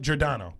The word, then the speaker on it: Giordano: So, and it's Jordano. Yep. Jordano. There we go. I said it right.